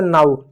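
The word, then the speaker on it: now: जैसे नाऊ। अब एन का नौ गया या ओ डब्ल्यू को नो नहीं पढ़ोगे। इसको नाऊ पढ़ोगे। यानी आ प्लस उ का उच्चारण कर रहे हो।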